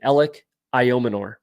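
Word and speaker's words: Elic Ayomanor: Jaylen Coker elic ior ior is actually how you say it a lot of people struggle with his name ellic ior that's how you say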